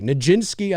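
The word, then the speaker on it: Nijinsky: we have one um and it's a virtual ninski of performance art nin was famous dancer from the early Cur I did say it correctly ninski I did I did I did okay K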